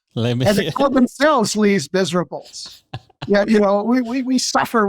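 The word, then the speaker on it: Les Misérables: that U like a lot of Americans they mispronounce the title of the book oh these Miserables themselves Le Miserables yeah you know we we we suffer what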